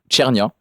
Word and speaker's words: Cernia: Vous pouvez le retrouver sur notre chaîne YouTube Chernia qui s'écrit CNIA à l'italienne et voilà et c'est un clip justement qui illustre un peu le propos de Alan B Neighbor.